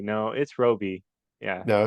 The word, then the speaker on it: Roby: I wasn't sure I I think I kept pronouncing it Robbie in my head and I was like no it's Roby yeah no it's Roby yeah yeah cool yeah